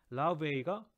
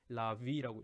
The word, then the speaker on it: larvae: 근데 요거의 복수 형태가 larvae 또는 라바가 단수, larvae가 복수가 되겠네요. 또는 larvae라고도 있습니다. larvae라고도 읽고 larvae라고 읽는데 이것은 라바의 복수 형태.